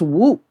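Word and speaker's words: Whoomp: I think it's Whoop. There it is, right? Whoop. There. Very controversial. It's Whoop. Thought you knew. So it's spelled won't, but it's whoop.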